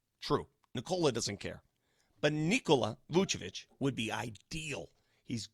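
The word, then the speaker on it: Nikola: I asked him, I said, "How do you properly pronounce it?" He said, "It's Nicola." And I go, "Well, I just asked Nola." And he says, "Nicola."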